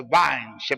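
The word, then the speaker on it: Vine: el diccionario bíblico de vin se pronuncia se escribe vin se pronuncia vins Sí sí claro claro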